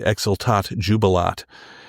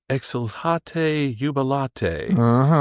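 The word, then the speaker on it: Exsultate jubilate: something from Mozart and I called the piece the exaltat jubilot and that's not how you say it and I should have known that. Mh. Somebody called me and said, "Exilate yubilate."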